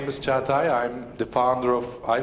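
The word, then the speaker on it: Çağatay: My name is Cagatay. I have a name with a, it's hard to pronounce, it's Cagatay, so don't worry about the surname.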